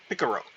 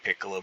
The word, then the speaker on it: Piccolo: really names at all Son Goku picaro Vegeta or at least that's how you would potentially pronounce them I mean it's actually just Goku Piccolo Vegeta and Frieza and so